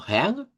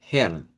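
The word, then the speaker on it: Herrn: Y luego Heang, si suenan con la R uvular, va a sonar como Heang. Y si suenan con la R, Hern. Hern, con R. Las dos pronunciaciones, repito, son válidas. Las dos pronunciaciones no es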